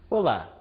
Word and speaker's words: Olá: iniciar uma conversa né problema de pronúncia é muito comum que o brasileiro fale Ola que tal Porque o nosso L final ele tem som de u o l do português ele é fenomenal ele é lateral quando ele é